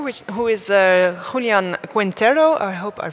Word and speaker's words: Quintero: go ahead morning and my name is Quintero I'm from Bogota I know speak English please for my pronunciation sorry I read for the little pest